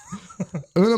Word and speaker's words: Oonagh: to butcher this because it's spelled Oonagh. So Unagi. No, there's no I. Oogie. Just Una.